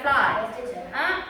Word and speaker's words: flour: பூ சொல்றோம்ல, FLOWER flour. அதுல என்ன pronunciation பண்றோமோ அதே pronunciation தான் மாவுக்கும்.